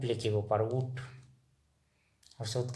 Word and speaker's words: ऊँट: असमिया का उच्चारण लिख के दिखा रहा हूँ ऊट, और हिंदी में हम नाक से, जैसे ऊँट, ऊँट नाक से उच्चारण करेंगे ऊँट।